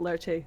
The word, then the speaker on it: Lerche: For us English speakers, Lurch makes more sense, but Lerche, it would be how because you would pronounce the E in Japanese.